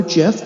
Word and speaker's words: GIF: So then I could add the graphic, and it works with JPEG, PNG, GIF, or GIF, depending on how you prefer to pronounce it.